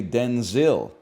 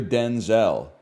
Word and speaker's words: Denzel: So she said from now on you're Denzel. That's how we got to pronounce Denzel. Washington clarified that his first name was originally pronounced Denzil as opposed to the Denzel he uses now.